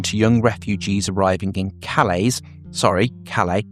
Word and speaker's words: Calais: He described the reaction of some people in Britain to young refugees arriving in Calais, they don't pronounce the S, do they, as hideously racist and